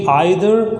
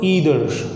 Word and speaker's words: either: Look one more thing, जो pronunciation रहती है इन दोनों शब्दों की, इट कैन बी आइदर और ईदर, और जो ये शब्द है ये है नाइदर और नीदर।